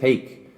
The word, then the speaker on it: Hake: reek go fake with hake one rhymes with sneak the other with snake hake with his beak